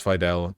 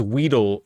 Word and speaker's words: Weidel: He mispronounced the party leader's name as Weedle throughout the encounter.